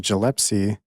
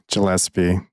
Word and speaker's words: Gillespie: You did not say it right that time. Gilepsy. How do you say it? Gillespie. All right. All right. Well, I did say I got tripped up on that name. Your G is hard.